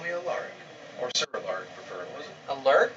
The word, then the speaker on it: Alaric: You can call me Alaric. Or Sir Alaric, preferably. Alaric? Alaric. Alaric. Yes. Can you spell that?